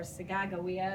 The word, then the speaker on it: Sacagawea: And I tried to do that by talking about Sacagawea or Sagagawea, as they pronounced it in the movie. They pronounced it differently.